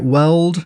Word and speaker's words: Weald: So we're getting this new zone, the West Weld, not Weald, right? Weld. Yeah, is how it's pronounced.